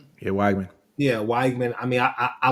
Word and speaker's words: Weigman: Wiegman? Yeah, Weigman.